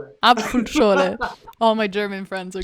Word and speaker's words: Apfelschorle: Apfelschorle. Apfelschorle.